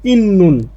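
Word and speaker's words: 있는: ত না হয়ে উচ্চারণ হবে নিয়ন এজন্য এর উচ্চারণটা হয়েছে ইন্নুন তাহলে খনগে ইন্নুন মানে সম্পর্ক আছে খত মানে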